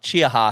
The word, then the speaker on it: Chiaha Mountain: start at chia mount chia ha sorry i said it wrong i said call chia pet mountain um but it it was supposed to start at chiaha mountain and then go north